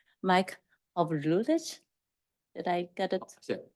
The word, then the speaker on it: Hawrylycz: H, or I can try to attempt to pronounce his name, Mike Hawrylycz. Did I get it? Yeah, Hawrylycz.